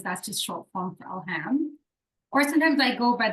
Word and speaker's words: Elham: more about that so my birth name is Elam which is the farsy way to pronounce it elham is the Arabic